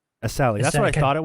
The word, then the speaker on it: Essalhi: And I'm just like, "It's Isali." Asali.